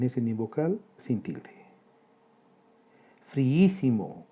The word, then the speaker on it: friísimo: Friísimo, 4 sílabas. Hiato entre dos vocales iguales, la I. Sucede que la sílaba tónica es la antepenúltima. Esdrújula con tilde.